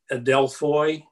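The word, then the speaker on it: ἀδελφοί: This is a Greek word, and I don't know how to pronounce this exactly. I think it's Adelphoi, A-D-E-L-P-H-O-I.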